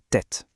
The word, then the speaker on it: tête: Pour la prononciation, c'est la tête. Faites bien attention, le thé à la fin s'entend bien.